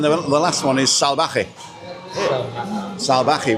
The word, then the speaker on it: Salvaje: Salvaje with the V is like a soft B. So it's Callao Salvaje.